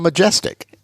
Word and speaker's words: Majestic: Well, Majestic. You would be shocked at the pronunciations that I've heard.